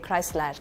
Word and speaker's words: Chrysler: Turkish we pronounce e as e. So that's why we say chryslash. R at the end is like really pronounced.